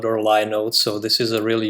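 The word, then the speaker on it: Linode: that it is pronounced Lode It's a combination of Linux and node okay yeah I remember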